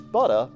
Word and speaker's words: Buttah: All right, Trap Buttah, and it's Buttah, by the way, B-U-T-T-A-H. Got to spell it right and say it right.